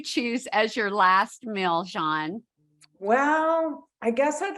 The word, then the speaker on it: Jeanne: of outer aisle Gourmet Jean and she is a lovely woman it is a French name that I'm very glad I'm pronouncing correctly but we are going